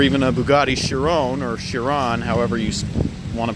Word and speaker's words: Chiron: a bugatti chiron or Chiron however you want to pronounce it I know Doug de Muro pronounces it your own I say Chiron and I've also seen